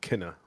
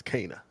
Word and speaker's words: Kena: just finished uh cana i keep calling it kenna and that is the incorrect pronunciation how do you pronounce it i thought it was kenner that's what i thought too i thought it was kenneth too but okay but people said i'm saying it wrong and it's cana so uh yeah i